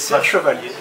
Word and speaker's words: Serre Chevalier: first trail was in France, and maybe my pronunciation is wrong, Serre Chevalier. Okay. Yeah, it's Serre Chevalier.